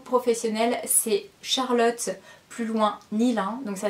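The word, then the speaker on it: Nylin: Donc mon Facebook professionnel c'est Charlotte plus loin Nilin. Donc ça s'écrit N-Y-L-I-N.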